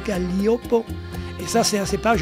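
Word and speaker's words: Gaglioppo: Galliopo, on prononce Galliopo.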